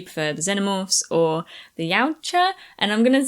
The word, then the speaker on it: Yautja: Yeah, probably how you did there, Yautja, I think. Yautja.